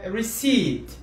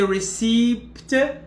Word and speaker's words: receipt: in number eight uh receipt that the p is mute we don't pronounce the p so we don't say received but we say re receipt receipt okay when you